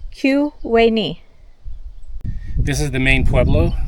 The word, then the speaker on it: Tyuonyi: So Tyuonyi is pronounced Q, like queen, Q-we-ni. This is the main Pueblo. It's called Kuwani.